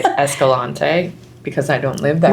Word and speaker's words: Escalante: Um and they pronounce it Escalani. So I might say Escalante because I don't live that great.